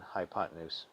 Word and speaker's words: hypotenuse: easier to spell but make sure to pronounce it fluidly as in hypotenuse the legs are always